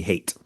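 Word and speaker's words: Haight: Hate.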